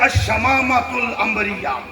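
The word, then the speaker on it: الشمامة العنبرية: بات تو وہ ہے الشمامہ امبریہ. ویسے کہ الشمامۃ الامبریہ اصل تلفظ تو یہ ہے، میں نے ویسے تو جو ہے یہ نہیں.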